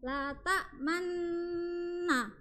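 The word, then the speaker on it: لا تأمنا: lat manuna dibacanya lak Man Nah gini cara bacanya gini Perhatikan ya Perhatikan ya la ta manuna dibaca la ta Manna paham paham Oke ee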